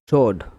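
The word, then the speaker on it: sword: এ RD guard মানে প্রহরী guard মানে প্রহরি সোড মানে তলোয়ার এস এইচ ও আর ডি সোড সোড এস এইচ আমার ওই উচ্চারণে ভুল হলে এস ডাব্লিউ ও আর ডিশোড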